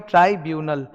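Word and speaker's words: tribunal: ट्राइब्यूनल, that's the pronunciation.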